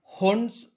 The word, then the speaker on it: Hund: Next is हुंड्स rule of maximum multiplicity, इसको pronunciation हुंड भी बोलते हैं तो लोग हंड भी बोलते हैं, ऐसा कोई फर्क नहीं गिरता प्रोनाउंसिएशन से।